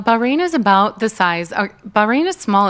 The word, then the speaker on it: Bahrain: population wise you can't say bahin every time right you got event you got to say bahin bahah you know what I mean it's like one of those words like if you commit to saying it correctly every time SP seems like a lot of b a r a i n and um and also